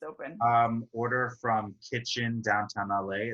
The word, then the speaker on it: KTCHN: Order from Kitchen downtown LA. It's spelled KTCHN. So kitchen with none of the vowels in it.